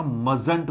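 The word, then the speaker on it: mustn't: का might मस्ट का मजट बोलना मस्ट नहीं बोलना इसका उच्चारण देखो सुनो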